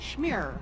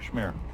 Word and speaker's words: Schmeer: inch I'm sorry schmeyer how's your last name pronounced Schmeer Schmeer I'm sorry one of those awful German names same with mine they call me my name is schmear I'm a resident of